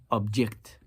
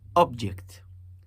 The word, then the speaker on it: object: Object. Listen to the first one, object. And the second one, object. Object. It's a shift that brings about a different meaning, and if done so